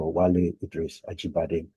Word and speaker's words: Wale Idris Ajibade: So let's begin first by pronouncing my name correctly. I see that you've been pronouncing it with a Ghanaian accent, and I'm still learning the Ewe language. My name is Dr. Wale Idris Ajibade.